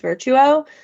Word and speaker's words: Virtuo: And what's crazy is with the Nespresso, especially like we have the Nespresso like it's called pronounced Virtuo, but the pods like they only like they